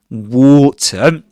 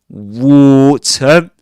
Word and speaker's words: water: Water ending with a schwa sound. uh uh water. Water. And as you would expect, um, not pronouncing the R sound as in American English, um, in where they say actually water. Water, right? Water. Uh, in standard southern British English, you don't say water, but water.